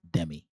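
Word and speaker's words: Demie: Hees always Alexa uh the correct pronunciation of Alexa's last name is Demi Dem Dem thank you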